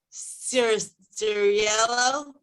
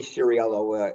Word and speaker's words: Ciriello: you all right uh cirrus cereal did i mess i totally butchered that pretty close it's ciriello advising uh advisory to